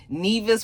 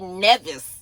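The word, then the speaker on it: Nevis: up there in the Nevice or NeAs. What did you guys tell me it was called?" Somebody was like, "Rexan, that is not how it's pronounced. It's simply Nevice."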